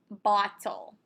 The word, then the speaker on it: bottle: Okay, this is the word bottle. So when you listen to the word bottle, notice this O has to be short.